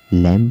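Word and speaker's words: lamb: क्लाइम पढ़ा जाएगा, क्योंकि यहाँ पर बी को हमें नहीं पढ़ना है, बी साइलेंट है। ठीक उसी तरह से लैम्ब है तो लैम्ब को लैम्ब पढ़ा जाएगा।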